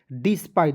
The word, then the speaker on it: despite: उसके बाद देखिए DESPITE तो इसे पढ़ेंगे DES तो इसे पढ़ेंगे डेस नहीं डिस, PITE पाइट पढ़ेंगे, देखिए DES डिस पढ़ लिए और P का प लिख दिए और ITE का उच्चारण आइट के रूप में किए तो क्या हो गया डिस्पाइट।